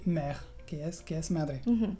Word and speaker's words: mère: Es como la E que usamos en la palabra comer. Entonces, ¿nos puedes dar un ejemplo en francés de una palabra que se pronuncia con la E?